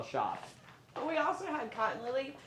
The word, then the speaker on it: Shopp: And White Hill Shoppy? It's just shop. Shop. Okay, it's shop, but it's spelled.